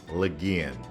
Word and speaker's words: Legian: I was saying Legian, Legian. I was getting it mixed up. It is officially Legian. Just in case you're wondering, that's how you say it.